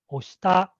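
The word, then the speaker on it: 押した: So we use the plain past form of push, which is oshita, and it has a flat intonation. And oshita, the name also has a flat intonation. And sensei, the accent on the second say.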